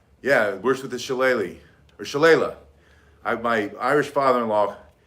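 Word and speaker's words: shillelagh: he's very polite and he said i think he's pronounced shala and so we went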